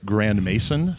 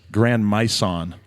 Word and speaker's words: Grand Mason: and talking about stuff he mispronounces my last name which for the record is Grand Mason how do they pronounce it grand meon grand M over and over and